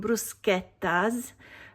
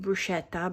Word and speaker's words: bruschetta: We're also going to have some bruschettas. I know you pronounce it bruschetta, but that's not the right pronunciation. Maybe you can say bruschetta from now on. It will make every Italian really happy.